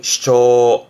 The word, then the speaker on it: 主張: 발음은 슈초, 슈초.